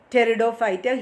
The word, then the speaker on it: Pteridophyta: Pteridophyta, here P is silent, pronunciation Pteridophyte.